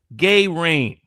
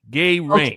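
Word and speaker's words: Gallrein: last name to pronounce so I just explained just gay rain gay rain that's how you see his name am I saying it wrong the I pronounce it gay rain so just imagine a bunch of Dave Rubin's uh falling from the sky and that's uh this guy's name Ed Gay Rain easiest way to pronounce his name.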